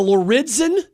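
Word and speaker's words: Lauridsen: county board of supervisors we're talking about the loridzen skate park did i say it right that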